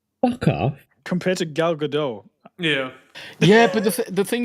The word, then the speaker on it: Gadot: But It's Gal I Gadot, don't... by the way. For a Jew. Godot, fucking Constantly Godot. getting- Go She's Bart. not French. She's Israeli. She's Israeli. Yeah.